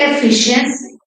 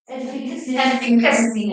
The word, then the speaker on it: efficacy: Is it efficiency? Efficacy, yeah.